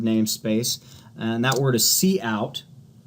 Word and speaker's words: cout: in that standard namespace, and that word is cout. It's pronounced cout, and what that literally stands for is the output window.